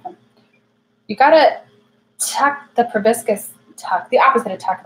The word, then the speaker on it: proboscis: proboscis which is weird we say probiscus because it's spelled with an O a proboscis proboscis English is weird was